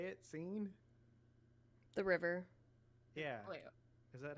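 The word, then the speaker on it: Seine: the scene is that how you say it scene the river yeah is that how you say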